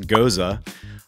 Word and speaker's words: gose: So, it is pronounced gohz-uh and that is a a slightly sour beer.